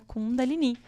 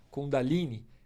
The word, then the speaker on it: Kundalini: O ideal é pronunciar esse I mais forte, mas aqui no Brasil a gente tem muitas escolas e muitas linhas que chamam de Kundalini. Kundalini é uma forma considerada menos correta de pronunciar do que Kundalini, porque o I na tônica final designa que é um termo feminino.